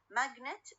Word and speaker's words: magnet: For example, when I say magnet, okay? magnet الستريس على أول syllable magnet.